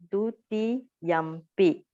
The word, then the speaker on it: dutiyampi: When it plus the p sound, so it becomes dutiyampi. Okay, it's kind of like changing of sound because of influence of the p sound. The m dot become normal m. So we pronounce it dutiyampi.